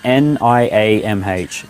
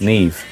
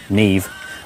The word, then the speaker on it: Niamh: No, it's just, how do you pronounce Niamh in Irish? Niamh. Neve. Neve.